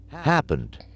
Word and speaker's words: happened: would go here inited happened happened so it doesn't have a t sound at the end so it would just be the D sound happened cooked cooked walked